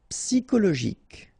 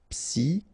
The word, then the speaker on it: psychologique: Normally we should pronounce it sho, okay, but in that case we pronounce it ko. Psychologique. Remember, final Q-U-E like that. K. Psychologique.